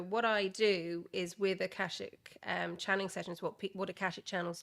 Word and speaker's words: Akashic: something called, and hopefully I don't butcher this, Akashic readings. Yeah. So Did I pronounce that right? yeah, Akashic.